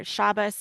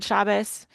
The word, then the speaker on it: Shabbos: The Ashkanazi or Yiddish kind of pronunciation where it has the S sound at the end or shabas and good shabas.